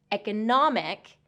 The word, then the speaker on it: economic: Economy has second syllable stress. Economic has first and third syllable stress.